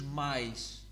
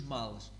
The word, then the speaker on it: males: So in this case, you don't remove the L, you don't add ish, so it's not os mais. No, os males.